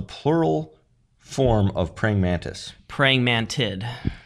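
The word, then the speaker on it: praying mantids: talking about praying mantis what's how do you pronounce the plural form of praying mantis praying mantid praying mantid I heard you say there's a Carolina Mantid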